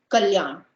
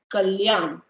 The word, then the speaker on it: Kalyan: So the first one, it's pronounced as k, k, and I have some names under it which you can pronounce. So k, k, l, yan, kalyan, kalyan.